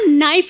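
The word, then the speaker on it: knife: मैं चाकू को भी कनाइफ बोलता हूं। कनाइफ नहीं होता नाइफ होता है। केस साइलेंट रहता है।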